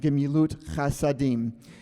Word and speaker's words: Gemilut Chasadim: Chesed and Gemilut Chasadim would be how you would pronounce that.